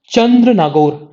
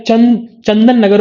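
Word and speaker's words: Chandannagar: So what happen, तो कलकत्ता में एक जगह है चंद्र नागौर, या चंदन नगर बोल सकते हो, या चंदेर नागौर बोल सकते हो. तो इट्स बेसिकली बंगाली लोग प्रोनाउंसिएशन थोड़ा अलग करते हैं.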